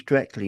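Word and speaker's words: dreckly: And we do things directly. Not directly. We do things directly. Directly. No I. No I in there. Just directly.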